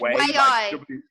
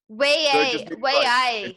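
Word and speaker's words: wey aye: It's WAI. W-E-Y. WAI.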